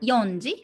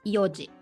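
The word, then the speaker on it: 四時: again four o'clock um it's not yonji or shiji it's yoji so go go yoji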